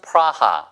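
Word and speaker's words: Praha: 때 체키야라고도 부르고요 근데 어쨌든 수도가 프라한데 현재에서는 프라하 이렇게 발음을 합니다 우리나라 사람이 서울 이렇게 하지 않고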